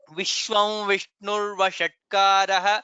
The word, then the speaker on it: विश्वं विष्णुर्वषट्कारः: But when we join, it is Vishwam Vishnur Vashatkaraha. That vakara there comes there.